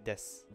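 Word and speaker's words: です: when you just say desu. So desu is des, except when it's desu because people want to pronounce it.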